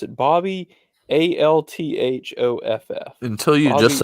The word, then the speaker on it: Althoff: I think that's how you pronounce it. Bobby, Althoff. Until you Bobby just said her, I was Altroff.